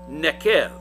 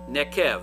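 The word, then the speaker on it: neqev: This is the Hebrew word nekev. Nekev, if you're trying to write it down and spell it out, that's N as in Nancy, E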